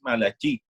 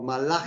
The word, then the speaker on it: Malachi: en la sinagoga es Malají y bien, aunque no voy a sinagoga askenazi, me aclaras la pronunciación que es Malachi, básicamente. O Malachi. Ben Yehuda o Malachi. Ese es básicamente.